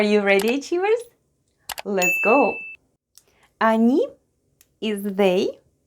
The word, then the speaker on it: они: Они is they. Хотят is want. Пирог is pie. Они. Хотят. Пирог. Они.